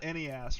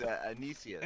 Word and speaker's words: Anicius: It's not Enias, right? No, it's Anicius. Anicius, there you go.